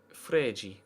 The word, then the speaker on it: Fred: Well, don't they pronounce it Fred? Fregi. At least they do with the other Fred.